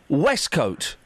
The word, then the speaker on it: waistcoat: the spelling of wesco it's spelt waist coat it's pronounced wescoat know so you put